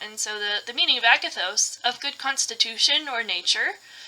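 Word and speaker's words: ἀγαθός: So I went digging and I found that the Greek word in this passage for goodness is Agathos, which I had to look up how to pronounce correctly. Agathos is used for goodness, and that's the Greek version of it is shown right here.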